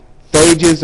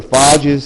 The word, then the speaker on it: phages: uh phages or fages, however you want to pronounce that, basically are bacterial viruses like uh antibodies.